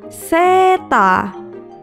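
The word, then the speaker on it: セーター: Ditulis dengan huruf katakana jadi se, strip, ta, strip. Seta.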